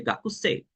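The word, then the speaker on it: 学生: Y en japonés no se dice de esa forma, se dice gakusei, o aproximadamente.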